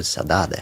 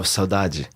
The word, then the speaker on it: saudade: last year, which is, I'm sure I'm not pronouncing it right, Portuguese word, saudade. Oh, saudade.